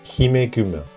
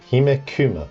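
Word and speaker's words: ヒメグマ: For example, Himekuma is a bit odd, therefore this was changed to Guma rather than Kuma.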